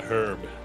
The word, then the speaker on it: herb: One of those words I have to keep reminding myself of to pronounce in American because it's not not a herb. It's an herb.